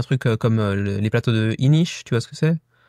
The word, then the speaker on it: Inis: Ouais, tu dis ish, t'es portugais? Non, parce que c'est apparemment du celte et que ça se prononce comme ça.